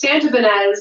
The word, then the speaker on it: Santibanez: She said Santibanez or something like that. Santibanez. But it's Santibanez.